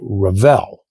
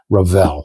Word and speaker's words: Revell: the way you say Revell. Well, I was saying it Revel. They didn't like that, so I'm calling it Revell now. And I've since learned that that actually is the correct pronunciation, Revell.